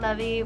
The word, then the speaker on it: Levy: Is it Levy or Levi? Levy.